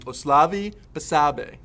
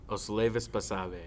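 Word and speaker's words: Osleivis Basabe: and that one guy that I still can't pronounce his name, Oslavi Basabe. Did I do good, guys? Close. No? Oslevis Basabe.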